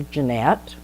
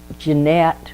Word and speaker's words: Jeanette: she got older, because it should be Jean, not Jann.